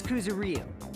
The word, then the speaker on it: Kuzuryu: My last name is Kuzuryu. My first name is pronounced.